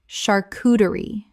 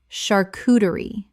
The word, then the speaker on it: charcuterie: Common mispronunciation, charcuterie. Correct pronunciation, charcuterie. The CH makes a SH sound in this French word.